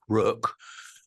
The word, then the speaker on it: Rök: the title should become not rock but Rook which in Old Icelandic means Destiny and flirta in which